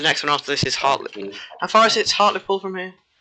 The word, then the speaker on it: Hartlepool: Hartlepool, yeah.